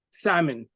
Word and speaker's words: salmon: Salmon. I mean, I've been to restaurants with my friends, and very often you'll hear my friends ordering, and they would say, "I want the salmon," and because the letter is there, why not say it? You know, whereas it's a silent letter in this case.